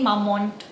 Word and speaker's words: Mamonde: A lot of people say mamont, but I will say mamonde because itu ngingetin sama biskuit monday.